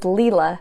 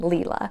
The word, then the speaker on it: Leela: So there's Leela, not 𝗖lie, even though she herself doesn't really correct people when they say 𝗖lie rather than Leela.